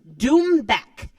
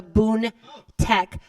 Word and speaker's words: doumbek: __ ] hilarious but my drum was called the doumbek drum not the Boone tech drum so I said it wrong and have to correct